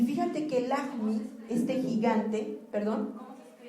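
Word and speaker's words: Lajmi: Y fíjate que Lahmi, este gigante, se escribe L-A-J-M-I, Lahmi.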